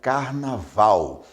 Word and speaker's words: carnaval: Por exemplo, quando nós falamos a palavra carnaval, a sílaba mais forte é val, é a última.